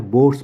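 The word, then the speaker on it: Bohr: यह हमको बोहर या बोर्स मॉडल बोलते हैं इसको कोई कोई प्रोनाउंस करता है बोर मॉडल कोई बोलता है बोहर मॉडल ठीक है तो दोनों ही सही है नेक्स्ट क्वेश्चन आपके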